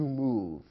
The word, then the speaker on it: move: the verb to move it ends with a silent E although the E is there we don't pronounce it we don't say move in in English simply move it's as if the E wasn't present so we consider it